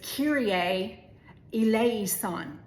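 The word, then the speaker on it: Kyrie eleison: So the proper pronunciation is kirier elisonan and it's Greek and kira was the word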